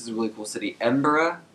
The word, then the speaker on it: Edinburgh: with chester this is a really cool City Edinburgh it's pronounced it's spelled like edinberg but all the people they're pronounced it like Edinburgh so I'm just going to say Edinburgh just